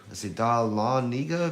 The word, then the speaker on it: Dahlonega: I can't even pronounce it. It's Dahlonega.